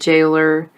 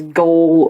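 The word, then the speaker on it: gaol: a britishism jail and jailer when I was reading it the book I wanted to read it as goal or goalers but no you just pronounce it as jail and Jailer and they changed that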